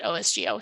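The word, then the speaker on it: OSGeo: um which is also we call it osgo so um full disclosure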